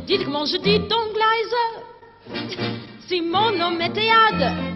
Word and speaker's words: Liza: Oh, it's Liza with a Z, not Lisa with an S, cause Lisa with an S goes snuds.